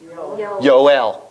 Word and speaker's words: Joel: name Jeremiah yeri yahu they don't have a j that's our language so these Jehovah's Witnesses